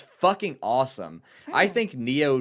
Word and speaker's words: Nioh: I haven't even heard of Neo. It's spelled Nioh.